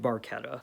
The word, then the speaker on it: Barchetta: the truth track to red barketta and yes i believe that's how you actually say it uh getty lee actually mispronounced it on the track if i'm not mistaken so i can only